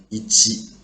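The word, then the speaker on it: いち: In the first sample, we will learn about how to use the pronunciation of ongyumi. As you see here, they say this kanji is ichi.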